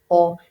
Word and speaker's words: aux: They both sound exactly the same despite the extra letter. Remember, we don't pronounce our X's, so or, and then à la.